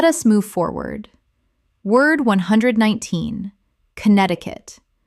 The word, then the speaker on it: Connecticut: Word 119 Connecticut Common mispronunciation Connect-ti-cut Correct pronunciation Connect-i-cut Four syllables, but the first C in Connect is silent in the full state name.